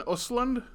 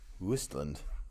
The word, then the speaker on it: Östlund: Wistland. Yeah, I think the two things over the O make a U sound.